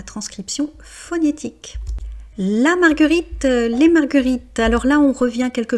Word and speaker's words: marguerites: mais par contre marguerite vous avez le s à la fin qui est en fait simplement la marque du pluriel et la marque du pluriel en français est muette donc la marguerite les marguerites.